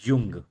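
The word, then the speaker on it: Jung: इसको देखिए इंग्लिश में जुंग लिखते हैं, इसको पढ़ते युंग ही हैं, लेकिन आप जब जे लिखा होगा तो आप जाहिर सी बात है जुंग ही पढ़ेंगे, लेकिन आप इसको जो प्रोनाउंसिएशन होता है इसका युंग होता है।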